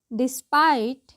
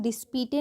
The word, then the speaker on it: despite: There still should interest to take that money डिस्पाइट, क्या पढ़ते हैं, डिस्पीटे नहीं, डिस्पाइट।